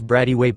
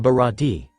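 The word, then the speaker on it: Baratie: Where is this Bradyway place?" Johnny chuckles at the captain's mispronunciation, "Dahahaha, it's the Bharati.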